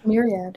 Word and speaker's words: Myriad: Myriad. Yes. I have Myriad. Yeah, that's how it's pronounced.